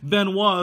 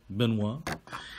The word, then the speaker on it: Benuo: Benuo is what they tell me this is pronounced as. Benuo.